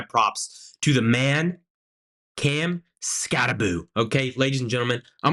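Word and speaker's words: Skattebo: He goes by the name Scataboo. Okay, and look, it's spelled like bow, Scatabo, but everybody calls him Scataboo, so I'm going to start calling him Scataboo, okay?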